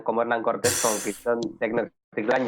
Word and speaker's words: Tenochtitlan: Tecno- Tecnocticlan. Tenochtitlan, O Tecnocticlan. Tenochtitlan, pues eso. Tecnocticlan. Tenochtitlan. Tenochtitlan.